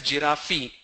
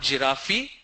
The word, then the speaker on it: giraffe: Lot of people pronounce that as giraffe. It's not giraffe, it's giraffe.